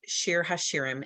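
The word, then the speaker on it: שיר השירים: book of the bible the song of songs pronounced shir hashirim in hebrew this is part 3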